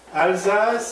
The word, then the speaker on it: Alsace: And so Alsace, or did I say it right? Alsace is a French department. This is correct.